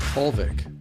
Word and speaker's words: Holvik: Today our special guest is Hulvik. Did I pronounce it right?